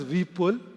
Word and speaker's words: Vipul: New Delhi NCR um the special pronunciation for my name is Vull and we'll be pulling together quite a bit of concepts at 3:00 p.m.